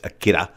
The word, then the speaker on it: Akira: film akira it's spelled akira how japanese pronounce ours is kind of more like a dt kind of thing so it's akira um this was a movie that changed the